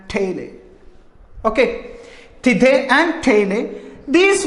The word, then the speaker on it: taille: It is actually, the pronunciation is actually on the basis of French pronunciation it is. Tithe and taille.